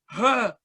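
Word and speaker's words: ح: Bukan kayak gitu, suaranya itu dari tenggorokan paling dalam. Kalau misalnya dari dada, ntar kalian jadi kayak batuk berdahak gitu. Jadi bacanya ha.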